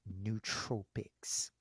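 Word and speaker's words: nootropics: Tropics n oo Tropics spelled the same way as Tropic same spelling n o o t Ora o p i CS but it's pronounced neut Tropics which basically means um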